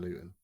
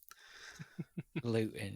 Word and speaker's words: Luton: Well, it's correct to obviously leave the pronunciation of T's out of anything regarding Luton. Luton, yeah.